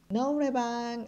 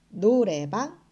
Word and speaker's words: 노래방: 가깝게 발음을 하실수가 있습니다 너 물방 아니고요 노래 막 이렇게 발음을 하시면 되겠죠 오늘 한국어 발음